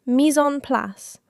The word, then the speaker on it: mise en place: This is a French phrase, pronounced mise en place, and it means having everything prepared and in place before you start cooking.